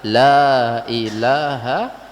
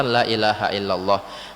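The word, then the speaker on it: لا إله إلا الله: Namun sekarang banyak yang salah pengucapan la ilaha illallah. Jangan sampai kita salah dalam mengucapkan la ilaha illallah. Pertama, kesalahan pertama adalah dipotong. Dia hanya mengucapkan la ilah saja.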